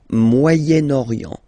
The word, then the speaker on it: Moyen-Orient: So it's interesting here because normally if you would have only this word here, you would pronounce it moyen, moyen, okay? But then as you've got this vowel after, okay, you get to make the liaison between the two.